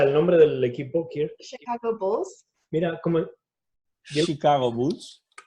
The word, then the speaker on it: Chicago: Sí, Chicago. Pero Chicago. Además, empecéis en la segunda sílaba. Chicago. She, ¿no? Un poco she, ¿no? Chicago. Sí, más empecéis en el medio.